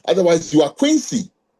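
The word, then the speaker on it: Kwesi: Oh, Quincy. I said, "No, Quincy." And then I'll spell it for you. K W E S I.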